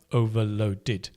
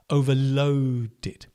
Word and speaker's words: overloaded: Get the the stress in the word right. It's not overloaded. Overloaded. Overloaded. Whenever you stress a syllable, you make it longer, louder, and higher pitch. Overloaded. Overloaded. That's how you stress in English, right? Word stress.